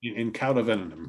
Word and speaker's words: In Cauda Venenum: In Cauda Venenum, yeah.